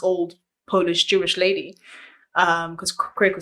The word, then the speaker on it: Krakue: Technically it's Esther Krakue, but most people don't get it right because it's not in the lingo.